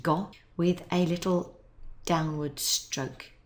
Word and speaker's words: 午: order now we start our character for noon which is pronounced go with a little downward